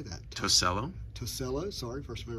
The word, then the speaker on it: Tosello: Tosello.